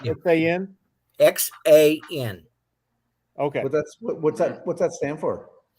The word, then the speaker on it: XAN: You want to pronounce XAN? XAN.